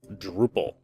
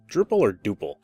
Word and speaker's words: Drupal: I use a program called Drupal or Duple. I think it's actually Duple, but I call it Drupal.